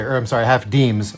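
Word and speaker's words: disme: And then the the bit about the half dismys, which you don't say, or I'm sorry, half deems. It's spelled dism. It's pronounced deem.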